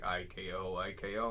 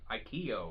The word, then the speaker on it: IKO: peppers, I was like, how do you pronounce it? They're like IKO. I'm like, really? I thought it would be like Ikeo or some shit like that.